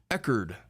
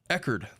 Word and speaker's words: Echard: so much for the $1.99 he says it's pronounced eard what have I been saying chardard hey what